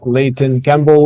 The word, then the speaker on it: Leighton Campbell: Today, I have the pleasure to have Leighton Campbell with me. I hope I'm pronouncing your name right.